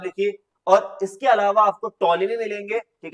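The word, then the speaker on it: Ptolemy: और इसके अलावा आपको टोलमी मिलेंगे ठीक है यहां पर थोड़ी स्पेलिंग एरर हो गया है बेटा तो याद रखिएगा इस टोलमी ठीक है प टी ओ एल ई एम वाई टॉलमी जिन्होंने किताब लिखी है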